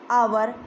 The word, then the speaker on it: our: OUR आवर, हम बच्चे mostly इसका उच्चारण अवर बोलते हैं, ठीक है। वो अवर जो है वो गलत है, क्या होगा ये, आवर।